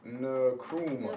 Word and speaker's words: Nkrumah: Nkrumah. Nkrumah. Yeah, Nkrumah. All right. So Kwame Nkrumah is the first prime minister, the first president of Ghana after their independence, right?